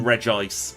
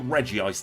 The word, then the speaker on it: Regice: snow runt clearly and Regice or Reggie ice depending on how you like to pronounce it oh yes there's the